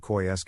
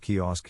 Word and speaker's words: kiosk: other way around for me my bf always pronounced it coy sk instead of kiosk kiosk i told him and he looked at